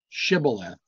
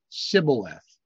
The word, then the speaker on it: Shibboleth: And they said unto him, say now, Shibboleth. And he said, Sibboleth. For he could not frame to pronounce it right.